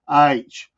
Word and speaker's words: Aytch: book company H and it's spelled out AYTCH like you would say it H from up in Tennessee